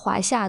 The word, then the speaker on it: 华夏: 华夏 Tôi vừa đề cập rằng Huaxia được phát âm là Huaxia. 读作华夏 Tôi thấy nhiều bạn bè nước ngoài 我发现很多外国朋友 rất dễ đọc nhầm thành "Hua". 容易把“华”读错 Thanh thứ hai là "China " 对华是第二声 . Đó là thanh lên.